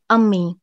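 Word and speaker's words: امی: write the word mother which is pronouncing as ami we say ami to mother and i put this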